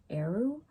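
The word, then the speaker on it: Eriu: And I think her name is pronounced Eru. It's E-R-I-U, but it's Irish.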